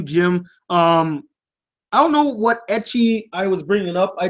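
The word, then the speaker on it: ecchi: So he said itchy anime. I think what he was trying to say was etchy. He was trying to say etchy, but he didn't know how to spell it. So he tried to pronounce it itchy.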